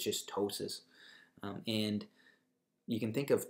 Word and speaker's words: ptosis: color next one is ptosis which just means lowered position of an organ you see there's a pee in this in this term but we actually don't pronounce it it's just ptosis and you can think